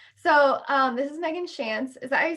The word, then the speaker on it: Tschanz: um this is megan chance is that i say your last name it's chance like there's a basketball player called chauncey phillips so just like take off the ey at the end and yeah how do